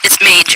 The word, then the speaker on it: Mage: stage hi yes um it's mage actually it rhymes with paige um oh no no